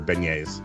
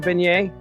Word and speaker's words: beignet: uh over powder their Beignets okay what's a beignet it's a French pastry beignet how do you spell that b-e-n-a or b-e-n-e yeah there's a g in there somewhere oh there's a [